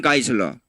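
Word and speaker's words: Geisler: 이거 독일식 발음으로 요거는 I로 발음합니다. 요거요. I로 발음합니다. 놀만 가이슬러.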